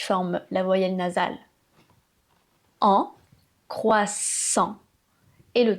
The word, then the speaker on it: croissant: Alors là, j'entends de tout. J'entends "croissante", "croissant", "croissante", "croissant", "croisant", "croisant". Et en effet, ce mot a plusieurs difficultés. La première, c'est le son qui est composé du "C" et du "R". Donc là, il faut travailler la façon de prononcer le "r". Ça, c'est encore une autre difficulté. Le "R" qui se passe ici : "croi", "croissant". C'est pas "kwa", votre gorge doit vibrer.